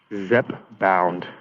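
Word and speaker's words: Zepbound: oh so the Eli LLY one is um Zep bound that's that's how you pronounce it um but uh yeah it just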